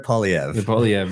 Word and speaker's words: Poilievre: And then in political sense, like even here in Canada, right, you have, I still cannot pronounce his last name, Pierre Poilievre, how do you say it? Pierre Poilievre.